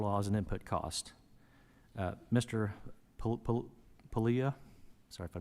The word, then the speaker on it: Puglia: It's Puglia, like Puglia. lasagna, right? The G is, we'll make The G everybody is silent.